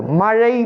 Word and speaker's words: மழை: பெய்து குளங்குட்டை நிரம்பியது மழை மழைக்கு கூட பலரும் சரியான முறை உச்சரிப்பதில்லை எழுதுவதும் இல்லை ஒருவேளை எழுதலாம் ஆனால் சொல்லக்கூடிய நேரத்துல மழை மழை என்று தான் மழை பெய்கிறது என்று தான் சொல்லுகின்றார்கள் மழை பெய்கிறது என்று தான் சொல்ல வேண்டும் மழை இந்த மகரழா மழை பெய்து குளம் குட்டை